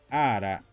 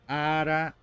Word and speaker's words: ara: vou falar o seguinte ara ara ara reparem tem que falar o a bem aberto então ara ara ara